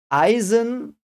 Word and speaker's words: Eisen: an i and uh in German that those two together are all almost like 99% pronounced I like you would in English probably write a i that sound but it is I so Eisen means someone